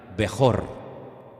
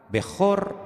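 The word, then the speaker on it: בכור: palabra primogénito la palabra primogénito en hebreo se pronuncia así como la tienen ustedes en la pantalla bejor y hay una una palabra que suena muy parecida que es beraja bejor beraja bejor es primogénito y beraja qué es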